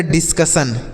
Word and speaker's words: discussion: तो देखिए DIS है तो इसे डिस पढ़ेंगे, उसके बाद CU है तो CU से कॉ पढ़ेंगे, इसे कू नहीं कॉ पढ़ेंगे और SSION को पढ़ेंगे सन तो ये लिखा गया डिस्कशन।